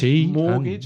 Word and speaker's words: mortgage: the silent B um and silent T Mortgage morgage as well yeah like crazy crazy silent G